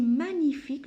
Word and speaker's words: magnifique: Mais par contre, ici, magnifique, je ne prononce pas la lettre G.